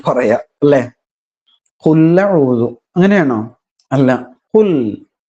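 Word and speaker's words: قُلْ: ഒരു ബലം പിടുത്തം വരുന്നില്ലേ അങ്ങനെയാണ് കുൽ അങ്ങനെയാണ് ശരിക്കും അതിന്റെ ഉച്ചാരണം മുറിയണം കുൽ അങ്ങനെ മുറിച്ചു പാരായണം ചെയ്യാൻ ശ്രദ്ധിക്കണം എന്നതാണ് പിന്നെ എന്താണ് ശ്രദ്ധിക്കാനുള്ളത്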